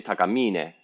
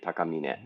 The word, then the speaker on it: Takamine: So that you don't stress any of the syllables necessarily. So you don't say takamine, you say takamine. It's just flat across.